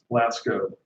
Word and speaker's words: Lascaux: I'm just going to double check the pronunciation. Lasco.